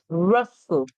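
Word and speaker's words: rustle: humming weather weather russle russle russle remember the T in this one is silent so it's the in russle gently gently gently remember when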